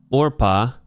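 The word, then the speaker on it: עָרְפָּה: So the one named Orpah. So this is a comet's hatuf, not a comet, so it's an O. And we know that because it's a closed syllable. And it's not the final syllable.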